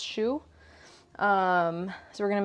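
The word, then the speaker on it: choux: the same thing is pesu is that how you say it it's like the French way of saying that kind of pastry okay so so SHO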